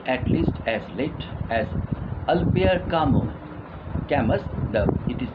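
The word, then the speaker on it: Albert Camus: this stone continued at least as late as albir kamu it is pronounced as always but written as albert gammas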